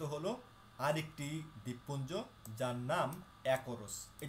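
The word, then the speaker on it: Açores: আরেকটি দ্বীপপুঞ্জ, যার নাম অ্যাকোরোস। এই যে দেখতে পাচ্ছেন, এটি হচ্ছে অ্যাকোরোস দ্বীপপুঞ্জ। এটা দেখতে পাচ্ছেন এখানে লেখা আছে অ্যাজোরোস, এটা হচ্ছে ইংলিশ উচ্চারণ, সঠিক উচ্চারণ হবে অ্যাকোরোস, এটি পর্তুগিজ শব্দ, এটি এখনও পর্তুগালের অধীনস্থ।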